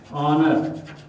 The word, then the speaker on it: honor: having words like r honor honorable honorary all these in these words the h is silent and it begins with